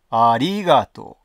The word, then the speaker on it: ありがとう: ましたあ標準語ではありがとうアーリーガート低い高い低い低い低いと読むんですねこれを